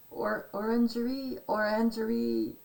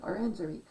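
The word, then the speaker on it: Orangerie: Orangery, French. Yeah, was it French? No, it's German. Orangery.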